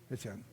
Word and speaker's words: Étienne: Comment qu'on prononce Étienne? Étienne, en bon québécois.